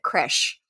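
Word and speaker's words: crèche: In Australia, I will double down on this because like sometimes we get it wrong, but in Australia we do say cray.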